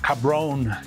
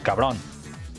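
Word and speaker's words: cabrón: sounds very Mexican and all the TV shows use is cababon but they they use that very horrible gringo accent cabon cabon but in Spanish it's more like cabon cabon And yeah, but it's a very ambiguous word.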